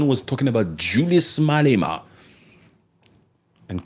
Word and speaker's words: Malema: They can say Julius, but Julius the pronunciation. Julius Malema.